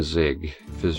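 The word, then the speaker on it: Siegfried: I'm not sure if I have word to it pronounced otherwise but I could see it being Zigg fizz German sort of like an asy versus Mitsurugi The grueling battle ended with the victory.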